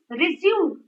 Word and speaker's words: resume: broken into three resume and it's resume stress is on zoom i think stress is